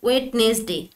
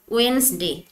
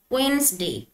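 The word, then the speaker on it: Wednesday: মনে হতে পারে উচ্চারণটি ওয়েটনেস ডে কিন্তু আসলে সঠিক উচ্চারণ ওয়েনসডে এখানে ডি টি সাইলেন্ট থাকবে ঠিক আছে উচ্চারণ হবে ওয়েনসডে মানে বুধবার থার্সডে টি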